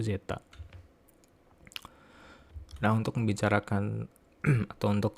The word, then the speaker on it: zeta: potensial Zeta ya ini ini huruf heenanii yang bacanya itu zetta Nah untuk membicarakan atau